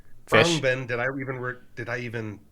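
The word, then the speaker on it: Khruangbin: Krungbin, did I even pronounce that right? Yes. Krungbin.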